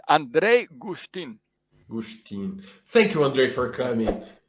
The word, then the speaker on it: Andrej Guštin: gustav justin no andre andre how do i pronounce her name you just did me a second ago yeah it's andrei gustin thank you andre for coming it's a pleasure